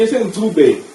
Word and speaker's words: Ncube: Pronounce it correctly. Yeah? No, man. You say Ncube.